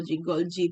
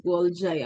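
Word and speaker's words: Golgi: And then we have here the gol apparatus or they sometimes pronounce this as gol golgy bodies gol apparatus some would pronounce this as goli apparatus.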